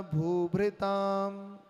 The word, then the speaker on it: भूभृताम: रेफ ऊपर है इसलिए पहले र उच्चारण होगा, कर्म, और नीचे भ्री में री की मात्रा है इसलिए भृताम। ठीक है? भेत्तारम कर्म भूभृताम, ज्ञातारम विश्व तत्वानाम।